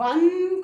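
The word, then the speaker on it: one: क्योंकि हमको याद रखना है कि 1 रुपी कॉइन में जब हम 1 को प्रोनाउंस करते हैं तो व का साउंड आता है, दैट्स अ कॉन्सोनेंट साउंड, और जिन वर्ड्स में कॉन्सोनेंट का साउंड आएगा उनके आगे हम ए लगाएंगे।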